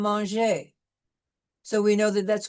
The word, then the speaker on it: manger: We will not be pronouncing the R if it's an ER combination, which is, we see in the infinitive of the regular ER verbs, which we've studied before, parler and manger.